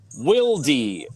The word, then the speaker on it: Wilde: Germans obviously pronounce the not silent E because it's not silent for them. So it's Wildy.